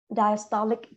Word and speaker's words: diastolic: needs announce after it so you can say diastolic blood pressure because blood pressures is good good